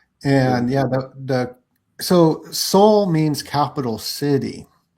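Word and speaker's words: Seoul: But it it sound like it's soul um like the actual human soul.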